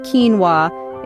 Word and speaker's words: quinoa: Quinoa, pronounced quinoa, is a grain crop that's been around for thousands of years.